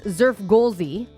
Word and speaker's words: Xfrgolszzzxy: They say it like this, Zerfgolzi, but it's spelled XFRGOLSZZZXY.